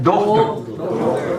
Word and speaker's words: Dochter: Don't put a K in there. Dochter. It's a CH.